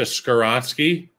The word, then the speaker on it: Skoronski: I'm not going to say that as it pertains to Skoronski, and I'm pronouncing that correctly. Yeah, you are.